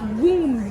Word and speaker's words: womb: So it's womb back. But there's not two B's in the word. Exactly. Womb, the B is silent.